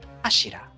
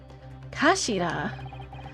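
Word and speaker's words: 頭: It's written as head in Japanese, but it's pronounced as Ashira, I believe. Kashira.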